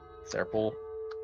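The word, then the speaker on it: Tser Pool: And I'm going to spell that because it has a T in it. So it's like, what the fuck? Seer Pool.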